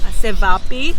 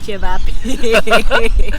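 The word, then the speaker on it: ćevapi: yeah, initially I've read it as Cevapi, Yeah. but then the lady in the store said it's Chevapi. So Chevapi. yeah, it's good to know that it's pronounced as Chevapi.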